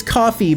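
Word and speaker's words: Ko-fi: that fit so uh I mean it's coffee but it's spelled Kofi how else would I coffee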